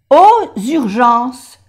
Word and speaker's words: aux urgences: Y la X suena como S. Aux urgences.